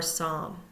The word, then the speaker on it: psalm: don't hear the H silent P we do not hear the p in Psychology or Psalm silent w we do